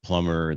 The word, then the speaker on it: plumber: I've after saying that, I'm thinking of that little meme thing you said, how plumber, the B is silent, and how that different things.